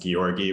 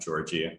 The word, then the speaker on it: Georgi: And my name is pronounced Georgi with a soft G, not Georgie.